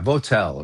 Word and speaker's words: Votel: What's his Voigt, Voght is his name. I don't know how to pronounce it right. Okay. But he was head of CENTCOM just about 8-10 years ago. Joseph Votel, yeah? Yeah, Votel, right.